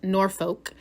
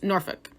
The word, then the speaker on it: Norfolk: And yes, if you didn't know, which I only learned this last year, but it's not pronounced Norfolk, it's Norfolk.